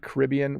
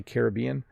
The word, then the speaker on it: Caribbean: by a hurricane okay by the way i said caribbean we also say caribbean there's two pronunciations but they are definitely